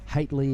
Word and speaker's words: Haitley: Haitley is how you say Charlie's surname.